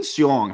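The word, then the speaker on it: Hsiung: Wayne, and his last name is spelled H-S-I-U-N-G. Wayne Seong, he's a Chinese American, but born and raised in America, went to school in America.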